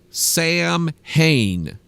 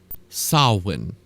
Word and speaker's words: Samhain: me tell you this it is not called Sam ha and I have no idea why it's spelled Sam Hae but it's pronounced sawin then have no idea idea Celtic Druids Druids